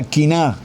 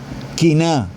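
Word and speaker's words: קנאה: segunda palabra es envidia la palabra envidia en hebreos se pronuncia kina quina esa palabra envidia cf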